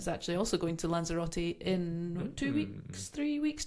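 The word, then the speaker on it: Lanzarote: How do you pronounce it in English? Lanzerati.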